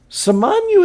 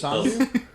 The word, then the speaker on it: Samanyu: Well, that's You said it was Sanju? Samanyu.